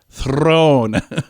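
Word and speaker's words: Theron: she says you don't you pronounce the the r with a a slight roll Throne I'm probably gonna keep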